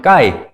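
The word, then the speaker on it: καί: K-E-A-I 됐으면은 카이 이렇게 될 거 아니에요. 그러니까 좀 헬라어적으로 읽자면 까이 이제 이렇게 됩니다.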